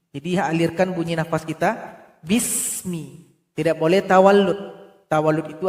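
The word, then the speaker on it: بسم: Di sini ada huruf sin. Jangan dipantulkan. Bismi. Bise. Enggak boleh dibaca bise. Harusnya dibaca bismi. Jadi alirkan bunyi nafas kita bismi.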